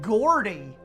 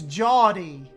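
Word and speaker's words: Geordie: It's pronounced Jawdy. How do you all get Jawdy out of that? That's like Gordy. Like Gordon.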